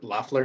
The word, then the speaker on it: Loeffler: Yeah, because a reminder, Kelly Loeffler. Is that how you pronounce it?